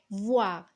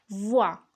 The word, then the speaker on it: voir: commencer par le verbe voir qui se termine par aux ir et qui se prononce ouah donc je vois première